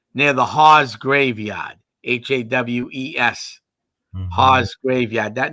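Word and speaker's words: Hawes: up the road near the Haws graveyard h-a-w-e-s Haws graveyard that name might ring a belly a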